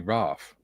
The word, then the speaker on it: RAAF: But if you have two A's together, it should be Raph as in father and lather and things.